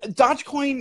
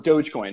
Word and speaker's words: Dogecoin: awesome right like like dodge coin is incredible because what or dogecoin right what however you want to say it like it captured